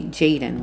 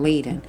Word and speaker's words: Jaden: to start it over I saying the baby's name wrong Little J J Jaden right I was calling him Leen okay but this C